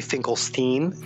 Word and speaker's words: Finkelstein: Finkelstein or how should I refer to you Steve and thanks for having me on it's actually Finkelstein is the correct pronunciation I'm so sorry it's okay but thanks